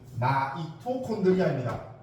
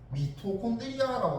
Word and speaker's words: 마이토콘드리아: 지금 고2까지만 해도 미토콘드리아라고 발음했었거든. 근데 갑자기 교육 과정이 바뀌면서 마이토라고 읽으래요.